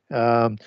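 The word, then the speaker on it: יוחנן: And in Hebrew, it would be Yowchanan, with the CH being the C being silent in the CH.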